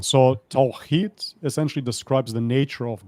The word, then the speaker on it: Tawhid: It's very hard to pronounce. I have my issues with it as well. It's Tawhid.